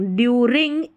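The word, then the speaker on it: during: साई पढ़ना, सी नहीं पढ़ना, साई, LENT, lent, silent, due, इसको DU को डू नहीं पढ़ना है, ड्यू, RING, रिंग, ड्यूरिंग, IM, POR, पोर, TANT, टेंट, इम्पोर्टेंट, MEE, मी,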